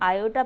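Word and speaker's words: iota: i मतलब imaginary part, इसको हम कॉम्प्लेक्स नंबर में आयोटा नाम से बोलते हैं, इसको हम आयोटा प्रोनाउंस करते हैं, ठीक है।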